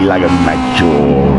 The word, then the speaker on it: Lago Maggiore: Yeah, I went on Googled, I Googled it, I found out how to say it, and it's Lago Maggiore.